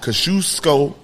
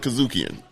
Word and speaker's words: Kosciuszko: And I want to say sorry how I pronounced this last time. Kosciuszko Park.